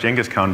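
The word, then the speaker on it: Genghis Khan: call a hierarchy but jenas Khan It's actually pronounced jenas Khan by the way listening to an expert on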